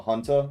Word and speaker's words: junta: Don't this pronounced like H, FYI? Like a junta? Like a military junta?